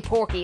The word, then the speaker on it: Pokey: I like pory better than Pokey even though Pokey is supposed to be the official name it's totally Porky and not Pokey okay so this is wanted this is the